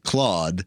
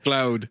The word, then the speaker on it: Claude: this guy named Claude but they don't pronounce it Claude Cloud Cloe c l o a d Cloe Cloud clo don't do that manin is really